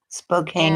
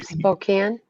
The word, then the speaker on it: Spokane: Okay, so Spokane, see where right? it's kind of dry. Yeah, see where it's kind of dry, and so between Spokane there. Okay, gotcha. Spokane.